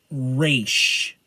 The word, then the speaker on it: Ra's: al Ghul, and again, it's pronounced Raish, not Raz or Raz. Ra's al Ghul. And before someone says, they didn't know that, Denny O'Neil, the man who created Raish, has quoted he hates